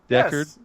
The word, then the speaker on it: Deckard: What, it looks like it should be pronounced like D-Cat or something? Yeah. Yeah. Dickhead. God. D-Cat. You are a D-Cat. Deckard. Yes, I am. You just put an R in there, and it's Deckard, like Deckard Cain.